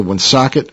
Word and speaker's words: Woonsocket: 1985 Park Avenue Woonsocket Rhode Island wo NSO cket pronounced it right of Emillio ferner Oh -